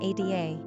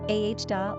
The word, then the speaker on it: Ada: Quick facts on ADA. Gender, girl. Origin, English. Number of syllables, 2. Ranking popularity, 436. Pronunciation, A-H-DA or Ada.